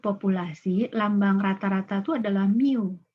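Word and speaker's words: μ: lambang rata-rata tuh adalah Miu ya Miu MB u dibacanya Miu itu adalah Jumlah dari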